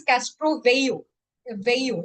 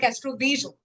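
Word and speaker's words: Castroviejo: These are and it is called as Castro Veo Veo. It's not called Castro Vjo. Okay. The J is silent.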